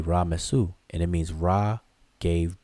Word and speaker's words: Ramses: But we say it as Ramses, but it's really Ra-Mesu.